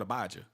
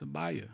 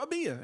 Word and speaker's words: Abaya: I still get called Abijah. Oh, Abijah. oh Like, bruh, man, it's not Abijah. It's Abaya. Or Abia, if that's how you're going to pronounce it.